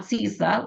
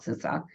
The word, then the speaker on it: CISA: and we've been informed that that's how you pronounce it not cisa like we thought about sisa so if you want to be right and sound impressive make sure you call it sisa um but we are in a Shields up